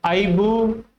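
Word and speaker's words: ibuprofen: इसका correct pronunciation होता है आइबुप्रोफेन।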